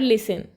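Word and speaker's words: listen: letter in the word लिसन तो यहां पर लिसन में टी साइलेंट होता है तो आंसर होगा ऑप्शन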